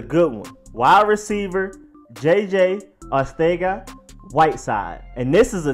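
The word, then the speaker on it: Arcega-Whiteside: what the JJ is it is josé joaquín Ortega Whiteside it's like a Spain type of Spanish not Western world Spanish is literally Spain Spanish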